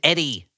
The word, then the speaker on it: EDI: The computer is named Eddie. Eddie. Guys, what does Eddie stand for? It's spelled EDI.